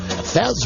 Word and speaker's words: Fez: Fez rhymes with Pez.